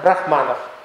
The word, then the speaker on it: брахман: Вот, а когда ударение на первый слог, то это будет относиться к Богу.